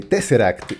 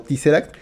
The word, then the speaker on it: TesseracT: este una disculpa porque estoy acostumbrado a toda la vida a verlo pronunciado teaser y hasta apenas me doy cuenta que no es la pronunciación correcta Bueno pues te será que decía este la